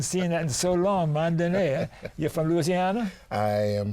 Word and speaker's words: Mondaine: And Don, did you catch the accent on the last letter of his last name? Mondaine. Mondaine.